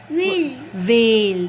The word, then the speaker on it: veil: so now tell me v e i l vale the sound of a e i a veil now what is the